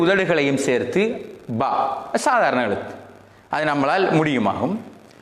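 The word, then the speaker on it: باء: அதாவது இந்த எழுத்தில் நாங்கள் இதனுடைய எழுத்துக்கள் நமக்கு நாம் அலிஃப் பே என்று உச்சரிச்சிருக்கிறோம்.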